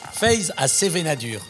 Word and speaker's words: Feiz ha Sevenadur: Phe à sevenénad dur c'est comme ça qu'on prononce Phe à sevenénad qui veut dire foie